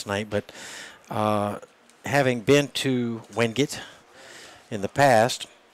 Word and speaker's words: Wingate: but having been to Wingate in the past, I pronounced it Wingate. Absolutely. Someone there at the school said, no, it's Wingate.